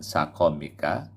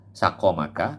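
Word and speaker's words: سقمك: Bifat hati ini cara bacanya sakomika, bisa dibaca dengan sakomika, sakomaka, bifat hati ini sakomika, sakom, fathahnya pada sin dan kof. Au bidommin fasukunin, atau dibaca dengan domah dan sukun, sukmik.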